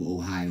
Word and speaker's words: Ohio: the correct pronunciation of Ohio, which is the Seneca word. It is not just upstate New York, western New York. It is the whole Northeast that was once our territory. That's why Ohio is in Seneca language.